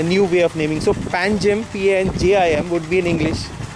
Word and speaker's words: Panjim: Which was spelled as P-A-N-G-I-M but pronounced as Panji. Panji.